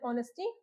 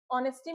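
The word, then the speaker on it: honesty: जो ऑनेस्टी लोगों को वैल्यू करवाती है। ठीक है? तो क्या हो गया? ऑनेस्टी में एच को साइलेंट बना देंगे। क्या हुआ यह? ऑनेस्टी।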